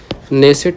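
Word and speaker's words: Knesset: संसद का नाम है नेसेट इसको नाम कहते हैं। क्या है? इसकी स्पेलिंग भी अलग है, ठीक है, के साइलेंट रहता है, बाकी ऐसे है, ठीक है।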